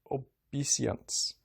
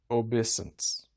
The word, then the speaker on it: obeisance: oliver roused himself and made his best obesience but he said it wrong obeisance he had been wandering